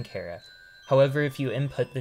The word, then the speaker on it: Chara: pronunciation of Cara but since it's likely short for character this is how I chose to pronounce it Cara was the first